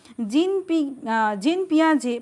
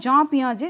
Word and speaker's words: জাঁ পিয়াজে: এরপরের কোয়েশ্চেনটাতে যাচ্ছি, দেখো জিন পিয়াজে প্রজ্ঞামূলক বিকাশের কটি স্তরের উল্লেখ করেছেন? তো মানে এটাকে বলা হয় জাঁ পিয়াজে, জিন নয়, জাঁ পিয়াজে উচ্চারণটা হয়।